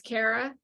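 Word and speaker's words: Kare: it's her daughter's name Cara Cara c-a-k-a-r-a Care I can't remember it could be either that's my sister's name oh really I haven't done it spell if it's spelled k-a-r-e yeah but it's Cara because I I remember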